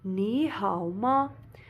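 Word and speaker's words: 你好吗: Ni hao ma, ni hao ma. Second tone, ni hao ma, zero tone, ni hao ma with a question mark.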